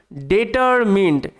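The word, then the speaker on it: determined: আছে আচ্ছা হি তিনি ডেটারমিনড এই যে ডে টি ই আর টার এম আই এন ইন আর শব্দের শেষে ইডি এখানে ই এর উচ্চারণ হয় না ঠিক আছে শুধু ডি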